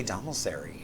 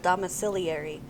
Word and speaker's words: domiciliary: I feel like there's an extra syllable in there that I don't It's like I think I would just say domicary. Yeah, that's what I wanted to say, too. So, but there's an ill domiciliary.